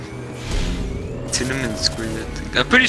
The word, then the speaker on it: Tiananmen: Fuck, Tiananmen Square?